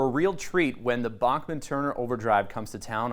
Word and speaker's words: Bachman: Prince George is in for a real treat when the Bachman Turner Overdrive comes to town on April 8th